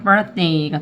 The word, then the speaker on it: birthday: birthday 1강세, 2강세, birthday 이렇게 된 거죠.